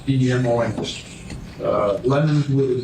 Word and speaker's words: Demons: It's pronounced Demons, D-E-M-O-N-S.